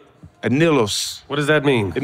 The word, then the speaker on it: anillos: One more time, B, give me the correct pronunciation. Anillos.